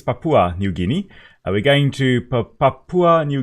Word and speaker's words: Papua New Guinea: Papua Papua New Guinea I was pronouncing Papaw New Guinea but I think it's Papua New Guinea we're going to Papua